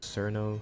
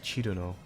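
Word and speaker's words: Cirno: People often say her name in different ways, the most common being she's the snow fairy, Cherry Moo. I love Cherry Moo. Cerno, Cyrno, and Chirno. Her name in Japanese is Chiruno, but personally I say Cerno or Cyrno.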